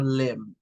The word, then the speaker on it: limb: Okay, this final one is to go out on a limb, Limb, to go out on a limb. You don't pronounce the B, so it just says go out on a limb, but you spell it L-I-M-B.